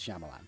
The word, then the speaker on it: Shyamalan: I know how to say his name it's Shyamalan but it's just his movies you know weren't